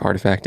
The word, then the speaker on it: RTFKT: saying they acquired artifact artifact is spelled rtfkt the acquisition announcement comes